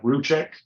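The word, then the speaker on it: Rzucek: I guess his last name is pronounced like Ruchek.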